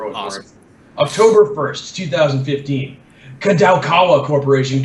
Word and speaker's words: Kadokawa: Kadokawa Corporation, Kadokawa Dwango Corporation that make up the group to indicate strongly the management integration of Dwango Company Limited, in and out.